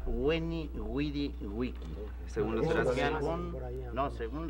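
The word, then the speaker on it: Veni, vidi, vici: Se supone que sonaba Weni, Widi, Wiki.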